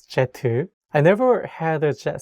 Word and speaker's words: 제트: In Korean, as you know, jet should be pronounced as jetu.